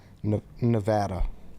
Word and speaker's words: Nevada: Nevada.